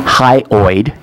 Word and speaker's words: hyoid: miss Ford for me you said it right high high oid sits in your throat